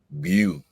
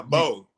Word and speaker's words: Beau: We have Beau.